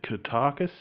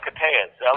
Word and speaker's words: Koteas: Is it Kotakis? Or? Oh, Koteas. Elias Koteas. Koteas.